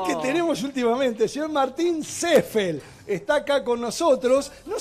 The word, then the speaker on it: Seefeld: Lo que pasa es que es alemán y la gente cree que es inglés, entonces con la doble E sería la I. Sería así, pero en realidad se pronuncia. La pronunciación alemana es Seffel.